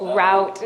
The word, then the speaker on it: Route: All right, and you pronounce it Route? Route, not Root, yes, but my English family would say otherwise.